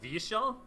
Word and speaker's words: Vyeshal: nerd street credit it's Vishal is that close it is though so all that the ye like what really what do we see a Y in the language it's always pronounced like yeah like like the like